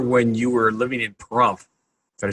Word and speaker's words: Pahrump: I remember when you were living in Pahrump. Did I say it right? Pahrump? Yes, Pahrump.